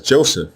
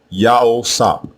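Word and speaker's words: יוסף: The name we commonly mispronounce as Joseph or Yosef is also spelled two different ways in ancient Hebrew. The first way is with the three letters Yah, Ha, and Wa as the prefix. The second way is with the two letters Yah and Wa as the prefix. Again, both versions are pronounced the same way, Yao-Sap, Yao-Sap, and it means Yahweh added.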